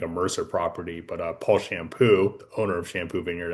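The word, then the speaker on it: Champoux: It's this is pronounced the shampoo. Oh, shampoo. This is the Shampoo, yes, just like the head soap.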